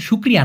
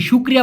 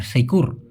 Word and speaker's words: syukur: শুকুর, আমরা বলি না তুমি তো ভাই তোমার ভিতরে তো শুক্রিয়া নাই, এই শুক্রিয়া বা শুকুরকে মালয়েশিয়ান ভাষায় এইভাবে লেখে অনেকে, SYUKUR, সেইকুর, মূলত হবে হচ্ছে শুকুর, শুকুর, ওরা উচ্চারণ করে শুকুর।